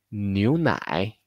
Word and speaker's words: 牛奶: Así que N más U es new, new. Y luego nai, nai. La leche, new nai, new nai.